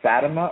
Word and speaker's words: Fatima: to the visions of fatama or Fatima I've heard it pronounced two different ways the Tom Tom Horn